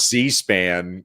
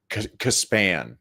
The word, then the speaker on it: C-SPAN: C-SPAN, but I can't remember. He called it Caspan is how he pronounced it.